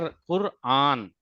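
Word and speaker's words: क़ुरआन: हुआ clear yes सर हां this is not Quran it is Quran यानी कि रे पे रुक करके फिर आ निकालना है।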